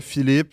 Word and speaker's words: Philippe: Philippe, c'est correct. Philippe, pas Philippe. Philippe. Ouais. OK, Philippe. Euh... Philippe, tout le monde. Pas Philippe, Philippe. Mais l'accent tonique.